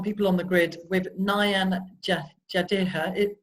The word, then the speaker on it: Nayan Jadeja: So we're talking today on People on the Grid with Nayan Jadeja. I pronounced your name correctly? Nayan Jadeja, yeah.